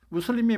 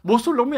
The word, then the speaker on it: 무슬림: 무슬림이 뭐 모슬림이 아니에요. 발음만 잘못하면 무슬림 그러고 모슬림이 되잖아요.